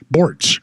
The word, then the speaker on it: Bortz: Bortz rhymes with sports.